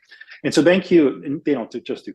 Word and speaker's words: BanQu: doing some really interesting stuff, and it's called BanQ, which is spelled BANQU, BanQ.